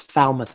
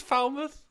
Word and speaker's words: Falmouth: It's Falmouth, Massachusetts. Yeah, I knew it was Falmouth. Not Falmouth, but that's okay. That's down to the British way of pronouncing things.